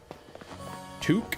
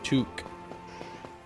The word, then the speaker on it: toque: Touque. That should be pronounced like talk with a hard K. No, toque.